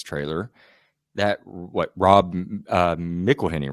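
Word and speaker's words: McElhenney: right after this trailer that what Rob uh meleny right is that how you pronounced his last name yeah sorry Mac from It's Always Sunny which we're okay Rob mckeny right yeah okay so Rob mckeny from It's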